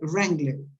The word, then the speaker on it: Wrangler: But the commercial said Wrangler. W is not pronounced, and that is right.